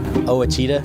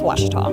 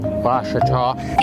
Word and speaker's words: Ouachita: house now accepting reservations I've heard people say oh a cheetah oh Wichita oh a cheetah is it pronounced oh Akita searching for Washita Baptist University back in Texas everybody pronounces it Wichita but really it's Ouachita Washington how would you pronounce it Ouachita Washita